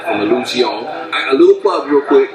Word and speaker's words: Illusione: I'm coming in, I'm just like, yo, do you guys actually carry illusions? And Monique and have all of her sophisticated, oneness with the universe. She's like, well, it's actually pronounced Illusione.